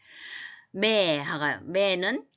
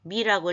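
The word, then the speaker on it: με: 매는 나라는 거에 에고, 무, 모이, 매 해서 매가 미라고 읽으면 안 되겠죠.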